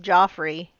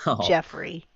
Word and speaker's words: Joffrey: finally telling us that his name is not pronounced Joffrey it's Jeffrey well okay it's is